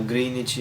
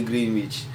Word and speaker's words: Greenwich: So yung hindi po siya green guys ha. Greenich yun. Ko lang po alam i-pronounce yung word na yun. So greenich po yun. Hindi greench.